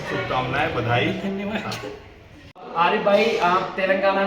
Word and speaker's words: तेलंगाना: हाँ, रेवंत रेड्डी के साथ वहाँ के और तुमने प्रोनाउंसिएशन गलत किया, तेलंगाना नहीं तेलंगाना। तेलंगाना, हाँ ठीक है।